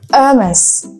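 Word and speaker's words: Hermès: Okay, so we can pronounce it Hermes.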